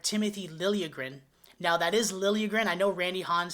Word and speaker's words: Liljegren: Now, that is Liljegren. I know Randy Hahn's saying Liljegren, but he was a Leaf for a long time, and that's kind of how they pronounce it.